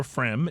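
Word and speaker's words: Pfriem: P-Frem's Pilsner, or Frem, if you prefer to actually pronounce it correctly.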